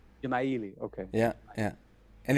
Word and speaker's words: Dzemaili: it is pronounced. Jamaili. Gemaili.